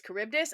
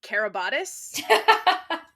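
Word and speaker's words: Charybdis: that Percy cannot pronounce Kuribdus because me too, King. It was up until I read the Odyssey in like freshman year English that I learned it was caribdis. I was reading carabotis.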